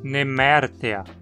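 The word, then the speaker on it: Nemertea: No filo dos nemertinos temos a terminação ea, que quase sempre possui um e curto, e aqui não é exceção. Assim precisamos pronunciar nemértea.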